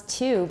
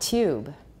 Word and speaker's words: tube: How do we pronounce tube in British? It's not tube. Yes, please? Tube.What kind of process is that? 为什么那个 T 会变 CH 的音? We just gave you the name for it. Palatalization. Because of palatalization, it became affricated.